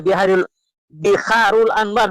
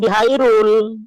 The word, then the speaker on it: Biharul Anwar: Ya, Biharul Anwar, bukan Bihairul. Kalau debat dengan saya harus yang benar membacanya, ya.